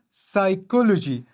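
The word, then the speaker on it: psychology: لکه سایکولوژي، دلته له پی نه وروسته اس راغلی ده او پی نه ده تلفظ شوی، داسې نه دی ویلي چې په سایکولوژي.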